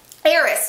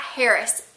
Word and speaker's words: heiress: Heiress, not Harris.